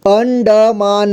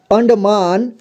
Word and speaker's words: अंडमान: आएगा ठीक है देखिए कैसे पढ़ेंगे अंडमान अंडमान ठीक है अगर नहीं बनता है तो इतना जोड़ जोड़ के पढ़िए दो-दो अक्षर अंड इतना अंड अंड हुआ इसके बाद मा न ठीक है म में आ की मात्रा मा और न अंडमान इसके बाद यहां ई